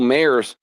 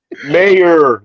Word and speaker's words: Mayer: Mayor, there's no S.